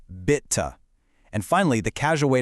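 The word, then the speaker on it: Bitte: Next is a really versa. It means please, but it can actually also mean you're welcome. It's pronounced bita.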